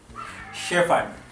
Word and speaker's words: shepherd: Shepherd. A shepherd is a person who takes care of sheep and cows and goats. We call it a shepherd. We cut off that second H.